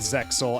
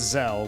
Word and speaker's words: Zexal: In the dub, they go with Zexal as a pronunciation, but in Japanese, it's just Zell with the decorative X.